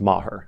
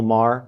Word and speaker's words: Maher: need to address something it's pronounced maher i realize i never say it so it's constantly pronounced incorrectly and bill maher he's not doing me any favors either it's maher anyways the guilt protocol